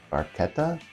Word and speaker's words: Barchetta: It might also be pronounced Barchetta, with a K instead of a CH, which is fine.